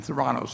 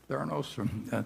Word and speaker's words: Theranos: And Theranos, I think, is that the way you pronounce it, Charlie? Theranos?